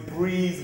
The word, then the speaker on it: Breis: morning everyone I said my name is Breeze which is spelled b-r-e-i-s it stands for brother